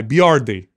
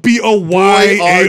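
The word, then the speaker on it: Boiardi: Look how his name is supposed to be spelled. B-O-I-A-R-D-I, Biardi. How is it spelled? They spell it B-O-Y-A-R-D-I. Boyardi. That's awesome. Boyardi. That's like when somebody says Casadilla. Yeah. some southern guy. Oh, that's a Boyardi. These Americans are never going to be able to say this right. Let's spell it out like this.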